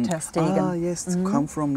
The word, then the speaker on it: Ter Stegen: Yeah, I think it's pronounced Stegen, ah, not Stegen. Okay. Normally you're right, yes. because normally it's like Sht.